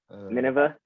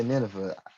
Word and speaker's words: Nineveh: was then sent to um how do you pronounce it the wave the wave Nineveh yeah Nineveh somebody's Bible somebody's Bible terms I can't get them right but uh I say it again Nineveh so when he was sent to Nineveh to